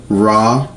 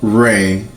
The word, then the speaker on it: Ra: when it comes to Ra or Re. In some ways you can pronounce it Atum Re or Atum Ra with the Egyptians.